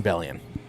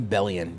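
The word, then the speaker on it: Bellion: But I will say uh John Bellian.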